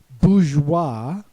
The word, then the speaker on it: bourgeois: Then we have voilà, memoirs, reservoir, noir, armoire with a silent E at the end, bourgeois, silent S at the end.